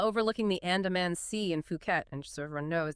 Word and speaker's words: Phuket: Maybe a beautiful villa overlooking the Andaman Sea in Phuket. And just so everyone knows, that's ph but uh we'll be pronouncing it the local way, Phuket.